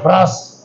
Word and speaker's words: ब्रास: ब्रास। जी, पूरा उच्चारण आ रहा है ना, ब्रास।